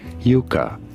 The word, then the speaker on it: Yucca: yucca I think it's Yuka I think it's Yuka in Spanish it is pronounced as Yuka Yuka in English though